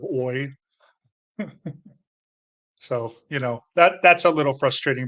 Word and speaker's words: hoy: And of course, H is never pronounced as the beginning of a word, but of course I pronounce it sometimes, like I say hoy instead of oi.